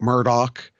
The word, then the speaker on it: Murdaugh: it's Alec Alex Murdock Murdoch uh and I've looked it up and it they do pronounce it Murdoch like Matt Murdock Daredevil but they it's spelled